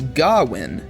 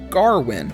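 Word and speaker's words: Gawain: on their own research a drunken man in the pub says gowin arthur says garwin with a clear and present r and the lord and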